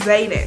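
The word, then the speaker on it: Xaden: character's name wrong Rocky I was pronouncing his name wrong is Zayden tell me why his name why is that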